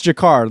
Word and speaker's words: Jacquard: I think it's Jacquard, like Jean-Luc, the captain. Rhymes with Picard.